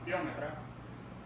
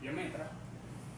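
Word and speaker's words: piometra: Nosotros normalmente decimos biómetra, pero realmente no lleva acento en la o, por lo tanto, la pronunciación adecuada es biometra.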